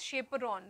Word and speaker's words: chaperone: for protein folding right see the name chaperon so it is cha PE right but the we pronounce it as chaperon because they give shape